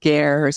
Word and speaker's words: ger: So this is a place that is built in the middle of the desert in these, they're pronounced gers.